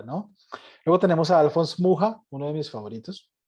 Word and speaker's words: Mucha: Luego tenemos a Alphonse Mucha, uno de mis favoritos. Escribe mucha, pero se pronuncia Mucha.